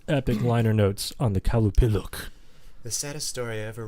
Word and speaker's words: Qalupalik: This one, I believe, is pronounced Qalupalik, depending on how it's spelled. The Qalupalik.